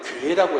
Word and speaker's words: 게: 꽃게 할 때 이 게가 이 우리나라 보면은 지역에 따라서 발음이 다릅니다. 예를 들면 저쪽에 북쪽 지방에서는 이 게를 뭐라고 하냐면 괴라고 해요.